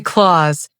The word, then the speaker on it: clothes: Clothes has a soft sound. Say clause, not clothing.